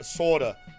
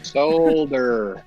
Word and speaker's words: solder: build a board and I'll say it the way my redneck behind learned how to say it uh sorta I don't I don't know how to sorta the whole board oh solder solder there's an L in there sorry I'm having